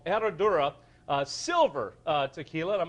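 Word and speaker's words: Herradura: it's uh it's it's starts with an H but the proper pronunciation is er er can we can anybody ER ER eradura that's it uh which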